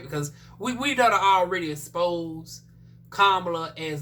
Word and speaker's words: Kamala: then unsurprisingly kamala honey or you know commonly mispronounced um as kamala i've heard some people say i used to say camera because i said well she west india i'm